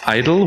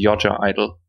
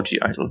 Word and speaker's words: (G)I-DLE: And then there's Idol, which is kind of right. And if you want to like pronounce it in Korean, that's probably the most correct one, which is Yoja Idol.